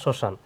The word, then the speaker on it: শ্মশান: এখানে দেখেন, শব্দের শুরুতে আমরা এখানে মফলা করছিলাম, শব্দের শুরুতে এখানেও শব্দের শুরুতে মফলা থাকলে মফলার কি উচ্চারণ হয় না। যেমন শ্মশান, শ্মশান, এখানে তো শ্মশান বানান বলে হয়েছে।